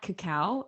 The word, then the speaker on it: cacao: other types of chocolate i believe you're supposed to pronounce that cacao i believe coco what you're saying is the plant from which they make cocaine cacao what that i mean